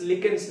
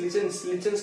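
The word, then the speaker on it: lichens: लिकेंस, लिकेंस, लिचेंस कह लो या लिकेंस कह लो, प्रोनाउंसिएशन में फर्क नहीं होता, ये थोड़ा वेरी करता है, ठीक है।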